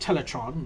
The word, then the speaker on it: Teletraan: last second and 11 teletraan sometimes pronounced teletran but some of them I don't know why but teletraan is polite enough to